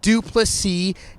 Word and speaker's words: du Plessis: middleweight in the world the S is silent buddies violent three kiss dupless C in the flesh outside